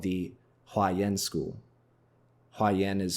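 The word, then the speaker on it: Huayan: school that I'm referring to is called the haen school haen is spelled in English h u a y a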